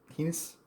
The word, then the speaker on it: Kiedis: Kiedis rhymes with P.